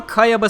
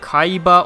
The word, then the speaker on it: Kayaba: to certain tongue habits, or Kayaba sounding too much like Kaiba or Kaiba regularly.